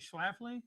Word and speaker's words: Schlafly: I think Schlafly, is that how you pronounce it?